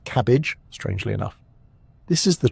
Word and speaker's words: CABG: In more complex cases or when multiple arteries are involved, doctors may recommend coronary artery bypass grafting or CABG, pronounced cabbage.